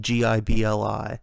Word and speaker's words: Ghibli: It's pronounced Gibli.